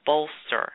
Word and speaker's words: Bolstr: It's a company called Bolster, and that's spelled BOLSTR.